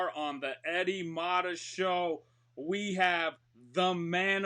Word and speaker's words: Mata: Is it Mata or Mata? Mata. Eddie Mata. Mata, not Mata?